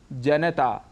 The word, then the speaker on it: जनता: है जनता यहां पर न में जो अ स्वर है उसको हम छोड़ देते हैं जिसे हमें नहीं छोड़ना चाहिए और पूरा बोलना चाहिए जनता ऐसे ही आकाशवाणी इसका